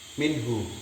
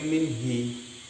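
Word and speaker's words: منه: Min bertemu hu maka tetap menjadi minhu. Dia tidak berubah menjadi minhi. Ini malah salah. Kalau dibaca minhi salah.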